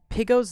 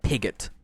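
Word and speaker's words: Piggot: know right now that pigo's name is pronounced pigo not pigot which is it's it's not pigot i don't let everyone know that it's piggo just so you know um because i i pronounced that as pigott for a while then i realized oh no it's piggo yeah so that's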